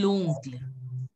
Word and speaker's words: l'oncle: See, O-N is always pronounced as on. So it will be l'oncle.